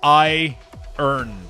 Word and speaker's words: iron: It makes absolutely no sense that a word that is spelled iron is pronounced I earn.